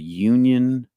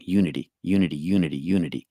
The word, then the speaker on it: Unity: So if you're in Georgia and you're in the Atlanta area, it's the Union North Atlanta Church in Georgia. Unity? Oh my God, I've been saying it wrong. Unity.